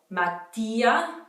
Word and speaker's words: Mattia: Mattia, Matteo.